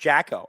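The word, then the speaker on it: Džeko: Because of Dzeko's name Oh, it's pronounced Jacko.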